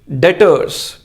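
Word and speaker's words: debtors: Next one इज डेटर्स। इसमें B word silent है, इसे हम डेटर्स कहते हैं।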